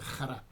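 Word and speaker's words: חרה: es la palabra Jara Jara se pronuncia Jara es h a r a Jara no y se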